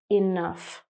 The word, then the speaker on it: enough: We have examples of an F sound, like enough.